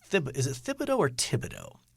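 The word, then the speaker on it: Thibodeau: is it Fido or Tibido it's a th to begin that but is the H essentially silent or I believe the H is silent so Tibido TI not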